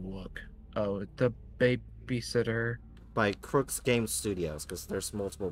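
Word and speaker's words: Crux: can just go look oh the babysitter by Crooks game studios because there's multiple ways of the games and Crooks is spelled c-r-u-x see under u x ohm said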